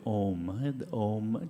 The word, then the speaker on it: Om: It's a short O sound and a longer M sound, like So I'll just demonstrate.